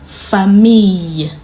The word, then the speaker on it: famille: When you have 2 L's in a word, it's pronounced ye. For example, fille, famille.